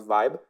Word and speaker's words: VIBE: So our new metric is called voting block entropy, which we pronounce VIBE.